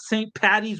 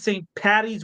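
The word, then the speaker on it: St. Paddy's: Make sure you say it right, by the way, not St. Patty's with a T. Get it right. It's St. Patty's with a D.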